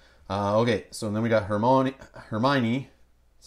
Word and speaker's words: Hermione: Okay, so then we got Hermione. That's how you say it, right? Mm-hmm. Hermione.